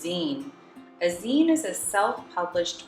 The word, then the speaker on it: zine: gonna make a zine what is design actually it's pronounced zine a zine is a